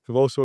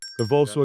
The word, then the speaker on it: Convoso: Convoso Ignite. Convoso Ignite.